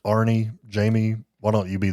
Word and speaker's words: Arne: Some people say Arne because it's spelled A-R-N-E. I think it's pronounced Arnie.